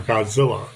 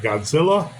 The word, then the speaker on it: Godzilla: he becomes Godzilla, or Godzilla, as the Americans say Godzilla, and the Japanese say Godzilla, almost like a zero or a zero.